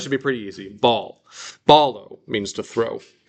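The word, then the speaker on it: βάλλω: I mean, it's even spelled the same way. Beta, alpha, lambda, lambda. Ball. Okay, so that should be pretty easy. Ball. Balo means to throw.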